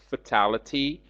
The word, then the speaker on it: fatality: adjective form is fatal please uh note the difference in pronunciation between the noun and adjective forms fatality but fatal fatal resulting in somebody's